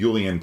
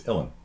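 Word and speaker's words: uilleann: boron you know and these are not the yulian pipes it's illin right and uh have you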